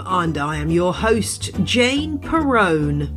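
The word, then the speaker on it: Jane Perrone: I am your host Jane Peron it rhymes with Stallone in this week's show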